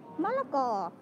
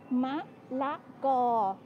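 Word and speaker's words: มะละกอ: So we just like use the word, the first syllable phalang, to call foreigners or white people in general. Som. This is malako, which is papaya. So malako.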